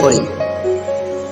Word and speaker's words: Caux: কো শহর নয়, গ্রাম। ইংরেজি বানান CAUX। সুইজারল্যান্ডের অনেক জায়গায় বানান এমন, আগে থেকে জানা না থাকলে উচ্চারণ করে বোকা হতে হবে।